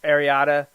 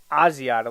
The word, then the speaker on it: Asiata: terms of picking Isaac Ariada. I think it's Agiata. I think this is spelled wrong. I didn't write it. I just copied it. So I believe it's Asiata, like Matt Asiata from the Vikings.